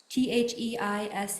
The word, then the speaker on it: Theise: Thies? Theise.